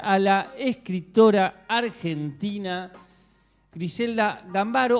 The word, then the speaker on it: Gambaro: Eh, dicen que en italiano se pronuncia gámbaro. Eh, y nosotros acá nos la apropiamos como gambaro. Yo le voy a decir gambaro. Sí, gambaro. Pero también se le puede decir gámbaro.